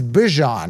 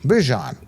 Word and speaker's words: Bijan: Bijan, not by B. It's not even Bijan. Remember, he came and said it's Bijan now. Bijan.